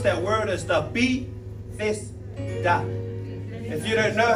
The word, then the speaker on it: Bethesda: The best way to pronounce that word is the Bethesda.